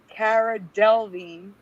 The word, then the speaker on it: Delevingne: Cara Delevingne. The last part is pronounced Veen.